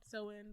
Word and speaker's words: Samhain: name is sam um because the holiday is called so in but it's spelled samhain um i think he's